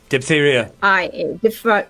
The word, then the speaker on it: diphtheria: pronounce it DIPHTHERIA.